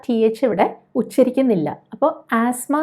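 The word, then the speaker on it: asthma: അപ്പോൾ ആസ്മ എന്നാണ് പറയുന്നത്. ബ്രിട്ടീഷ് ഇംഗ്ലീഷിൽ ആസ്മ എന്നും അമേരിക്കൻ ഇംഗ്ലീഷ് ആണെങ്കിൽ ആസ്മ എന്നുമായിരിക്കും പറയുന്നത്. അപ്പോൾ ഇങ്ങനെ തന്നെ പറയണമെന്ന് നിർബന്ധമൊന്നുമില്ല. ഇപ്പോൾ നമ്മൾ ആസ്തമ എന്ന് പറഞ്ഞാൽ ആളുകൾക്ക് മനസ്സിലാവുമായിരിക്കും, പക്ഷെ നമ്മൾ ഇംഗ്ലീഷ് സംസാരിക്കുമ്പോൾ അതിൻ്റെ ഉച്ചാരണം കഴിയുന്നത്ര ശരിയാക്കി പോയാൽ നമ്മുടെ കോൺഫിഡൻസ് കുറച്ചുകൂടെ കൂടും.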